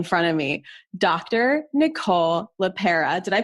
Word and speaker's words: LePera: Nicole LePera. Did I pronounce that correctly?